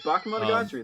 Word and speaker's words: Bakemonogatari: It's Bakemonogatari.